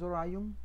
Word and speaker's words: Orion: Pero si nos vamos, por ejemplo, al segundo departamento, que es Orion, así se pronuncia, vemos que para el turno A son muy poquitos comparados con el turno B.